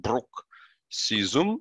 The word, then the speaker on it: bruxism: and you see here they even tell you how you should pronounce it brook season right is a condition